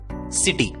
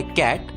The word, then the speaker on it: CITY: दोस्तों, आप सोच रहे होंगे CITY किटी क्यों नहीं? अगर CAT होता है कैट, COT होता है कॉट, तो CITY किटी होना चाहिए था। नहीं दोस्तों, CITY का उच्चारण होता है सिटी, किटी नहीं, सिटी।